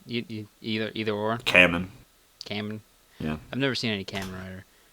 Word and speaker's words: Kamen: Kamen.